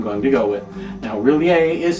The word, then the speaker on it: R'lyeh: they call monster of really a now there are several different pronunciations people say really a in different ways when they say it at all and uh well i'm gonna go with really a just because that one